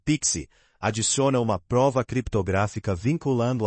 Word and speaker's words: PKCE: Já o PKCE, que se pronuncia Pixi, adiciona uma prova criptográfica